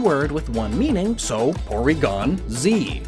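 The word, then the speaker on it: Porygon-Z: with one meaning so Porygon Z notice the tiny bit of Silence between the two but it's still one one word kinda and plus up until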